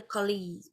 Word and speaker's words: collègue: Par exemple, quand j'ai la voyelle plus accent, je prononce est. OK. Donc ici, je vais dire collègue.